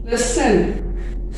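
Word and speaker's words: listen: लिसन, सुनना, लिस्टन लिखते हैं, पढ़ते हैं लिसन।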